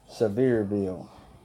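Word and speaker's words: Sevierville: headman Tennessee so severe it's actually pronounced severe bill so they jump you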